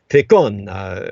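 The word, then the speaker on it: Pakone: First name spelled P-A-K-O-N-E, like a Pokemon character, but it's pronounced Pecan, something like that. It has almost Noaught sound to it, like the ancient Aztec language.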